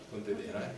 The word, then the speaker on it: Pontedera: è Pontedera o Pontedera, non so come si pronunci, Pontedera, grazie, dove è tutto vicoli, un po' come